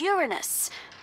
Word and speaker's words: Uranus: no jokes about uranus besides the proper pronunciation is uranus it's a dactyl sorry friday let's open